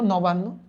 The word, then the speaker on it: নবান্ন: নবান্ন কিভাবে উচ্চারণ করছো? ফার্স্টে বলছি ন, ওকে লেখো ন, যা উচ্চারণ করছো তাই লিখবা। তারপর কি বলছো? বান, লেখো বান, ন বান, হসন্ত দিয়ে দাও। তারপর কি উচ্চারণ করছো? নো, নবান নো, ডান।